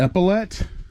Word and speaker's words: epaulette: It's titled Epaulette. Is that how you say it? Epaulette?